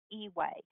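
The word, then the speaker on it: EUA: put in place an emergency use authorization pronounced e-way that basically reclassified face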